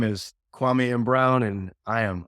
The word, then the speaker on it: Kwame: in uh just say my name is Dr kwami Brown and I am undone my name is kwami and brown and I am undone awesome and